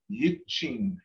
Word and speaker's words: yichin: So I'm saying ya sukalusti saku, yichin owanaidos, yichin. Owenayados, Owenayados. And I put the word yichin in there. It's got a long E sound with it.